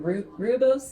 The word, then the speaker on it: rooibos: Turmeric tea, I don't know how to say it, rooibos tea. I think that's how it's said, Rooibos.